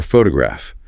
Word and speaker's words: photograph: Or photograph. The stress is on the first syllable. PH ograph. That second O reduces to a schwah full.